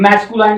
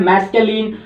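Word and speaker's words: masculine: मैस्कुलाइन ये होता है मैस्कुलिन, और फेमिनाइन जैसे मैंने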